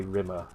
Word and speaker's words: Rimmer: Yeah, you've got to say rimmer. You've got to pronounce rimmer so that it almost sounds like it rhymes with scum.